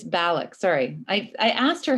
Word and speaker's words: Balloch: It's Balloch, sorry.